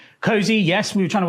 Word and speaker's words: KOSI: Cozy. Yes. We were trying to work out what to come up with and then Ko Ko nil. Yeah. Si Cozy.